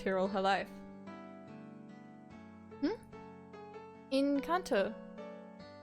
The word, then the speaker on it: Kanto: Is it, how's it pronounced? Kanto. Kanto. Kanto. Kanto. No way, she's from Pokemon Gen 1! How do you actually pronounce it? I don't want a British pronunciation! Okay, I guess it's Kanto.